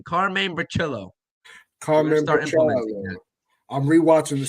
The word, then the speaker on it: Bricillo: We got the Italian pronunciation, Carmine Bricillo.